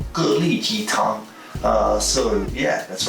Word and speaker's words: 蛤蜊鸡汤: We're going to get into the soup called Gélí jītāng. So yeah, that's right, I said it right. Gélí jītāng.